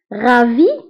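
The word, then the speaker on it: ravis: Ravi de vous voir. Ravi de vous voir. فهنا ravi تكتب بS في آخر الكلمة ولكن لا ننطقها.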